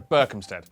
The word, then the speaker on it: Berkhamsted: Oh, sorry, Berkhamsted. which is in Hertfordshire. The only way to be absolutely sure of pronouncing British place names correctly is to live